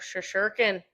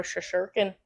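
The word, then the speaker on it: Shesterkin: Oh, Shashurkin, their goalie. Upper body injury. Igor Shasherkin. Is that how you say it? There's a T in there.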